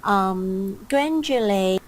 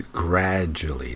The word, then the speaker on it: gradually: Gradually, Okay, there's no n sound. It's gradually, not gradually.